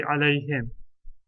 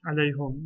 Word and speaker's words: عليهم: The more accepted accent is to say alayhim. It's not wrong to say alayhum, but it sounds a little odd to the ear that's used to the normal pronunciation.